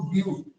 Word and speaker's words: But: Spelling BUT बट होती है, लेकिन रीड कैसे किया जाता है इसको? ब्यूट, ठीक है, ब्यूट।